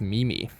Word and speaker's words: meme: too sure how to pronounce it it's now pronounced meeme but some people it was pronounced Mimi at the time uh it's a combination of